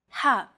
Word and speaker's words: ح: Ha. This sound is pronounced very deep in the throat.